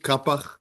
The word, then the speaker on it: Qafih: We call it Kapak. That's the way that it's pronounced here in Israel.